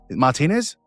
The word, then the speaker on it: Martinez: Martinez?